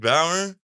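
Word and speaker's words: Bauer: Is it Buer or Bower or how that like a Jack Bower 24 hours?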